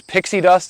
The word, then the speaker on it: PiKSi Dust: Uh, and as you pointed out, the name of the product is Pixie Dust. You guys didn't mish hear that on the video. I do actually own the trademark on Pixie Dust. So, we spell it P I K SI because it is a potassium silicate based product.